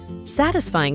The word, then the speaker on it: satisfying: Satisfying food can come in different forms, such as a hearty soup or a filling sandwich. Note that the word is stressed on the first syllable.